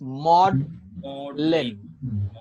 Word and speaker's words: maudlin: Yeah, how you can see how we pronounce this word is maudlin.